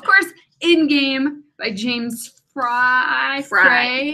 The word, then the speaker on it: Frey: Of course, In Game by James Fry. Everybody pronounces it Frey, but it's Fry. Technically, it's Fry.